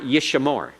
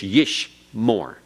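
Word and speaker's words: יִשְׁמֹר: is silent yesh more it's not yeshamar it's yish more yish more no sound between the Sheen and the Mane It's silent yeshmore everyone yishmore okay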